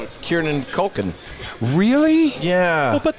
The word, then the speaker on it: Kieran: No, I can tell you, I will say Kieran Culkin. Really? Yeah. Well, but that was your fault. It was, no, I was a contributing factor, but it was not my fault. Yeah, well, Kieran, not Kiernan.